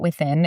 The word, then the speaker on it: WTHN: But my friend, she has a membership at this place called, I think you could pronounce it Within. It's WTHN. Yeah, WTHN.